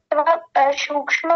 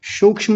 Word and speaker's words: सूक्ष्म: बात का ध्यान रखिए सूक्ष्म में यह वाला स बोलना है आपका मुझे ऐसा लगा जैसा आपने ये तालव्य वाला बोला हो सूक्ष्म नहीं सूक्ष्म सूक्ष्म हां जी बहुत